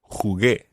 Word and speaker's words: jugué: Jugué. Jugué. But the U is silent in there.